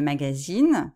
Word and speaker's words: magazine: faites bien attention que le magasin où on va acheter les choses c'est nasale ya pas de l'insee 1 le magazine c'est comme en anglais c'est une revue c'est